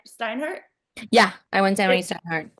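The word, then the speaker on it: Steinhardt: Yeah, I went to Steinhard.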